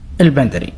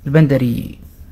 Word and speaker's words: البندري: بس إحنا نطقنا الخليجي البندري، يعني كأن الياء ميتة بس موجودة.